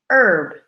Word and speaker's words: herb: hour another word again the H is silent so we don't say it er be we pronounce it herb herb we often make